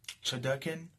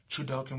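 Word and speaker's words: Chudelkin: and he bumped into Chodokin, or Chudokin, I believe his name is pronounced, Chudokin, which is the Prefect's right-hand man, the second highest administrator, the clown dude, the jester.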